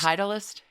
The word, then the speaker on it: Titleist: the golf ball manufacturer whose name is spelled titlist and i'm certain that that is pronounced Titleist is it maybe we